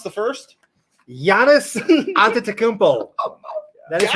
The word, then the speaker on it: Giannis Antetokounmpo: Can you pronounce the first? Giannis Antetokounmpo.